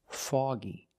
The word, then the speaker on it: foggy: I say it's foggy again the O before the G makes the ah sound foggy it's very foggy and